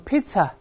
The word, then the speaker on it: Pisa: P-I-Z-Z-A，那个反而要读成 Pizza，但比萨是读成 Pizza，发